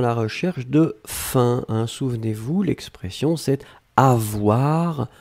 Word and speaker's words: faim: Alors là, effectivement, nous étions à la recherche de faim, hein. Souvenez-vous, l'expression c'est avoir faim, avoir soif, etc. Donc ici, c'était faim, on l'écrit F-A-I-M, on le prononce fin, comme F-I-N, c'est exactement la même prononciation.